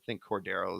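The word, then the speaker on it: Cordarrelle: But also, the Steelers have Cordero Patterson. Excuse me. I think Cordero is the correct pronunciation.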